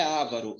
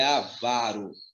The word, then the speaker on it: avaro: proparox todas são acentuadas porém a palavra não é avaro é avaro que que é avaro é o mão de porco pão duro tem algum amigo assim que não gosta de pagar nada então avaro não é a vida é avaro eu tenho uma paróquia